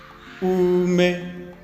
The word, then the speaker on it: ume: And then the next word we have ume. They are all high.